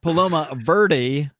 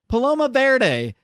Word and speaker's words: Paloma Verde: myself, I can say it is not pronounced Paloma Verde. It's pronounced Paloma Verde. Because who the fuck didn't take at least one day of Spanish in high school and know that verde means green?